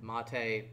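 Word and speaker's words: MATE: got no we got KDE we got Monta Monta I will actually pronounce the way that they wanted to be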